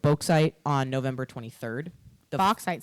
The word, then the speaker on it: bauxite: It's either bauxite. Yeah, it's spelt like faux, but with a B at the beginning. So I'm going to say it's bauxite.